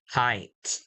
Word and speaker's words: height: now remember for now we must pronounce the the ending sound height height okay I'm afraid of height let's see do you